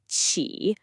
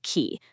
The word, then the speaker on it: qi: Listen, qi, qi. A really common mistake is to say it like a K sound, like ki. That's not it. It's sharp. Qi.